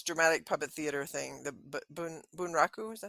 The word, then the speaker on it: bunraku: like a Japanese dramatic Puppet Theater thing the bunraku is that how you say it yeah yeah